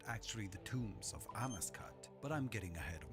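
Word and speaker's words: Amascut: dead, and his sister Amaskut, goddess of rebirth, which I've been mispronouncing Amaskut my whole life, but apparently it's Amaskut.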